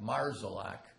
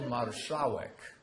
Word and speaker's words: Marszałek: because if you've got a name like Marszalek, actually Marszałek is the proper pronunciation.